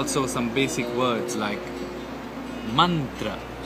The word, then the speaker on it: मंत्र: some basic words like मंत्र इट्स नॉट मं इट इज मंत्र और इवन तंत्र इट